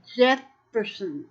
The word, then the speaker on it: Jephson: and it's by P.D. Jefferson, and it's spelled Jephson.